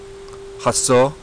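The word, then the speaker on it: hózhǫ́: I'll do my best to pronounce it for you. Hasso is the best, since I'm not Navajo and I don't speak Navajo, but as far as I've learned is how it's pronounced.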